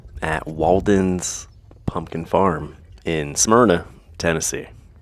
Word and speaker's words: Smyrna: farm in Smyrna Tennessee that's how you say it Smyrna at least that's how my family says it Smyrna I don't know if there's another way to say it but it sounds super Tennessee what was that oh